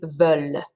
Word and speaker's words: veulent: They want, ils, elles veulent. Okay, so here's that ENT again, right? That is silent, so we don't pronounce it.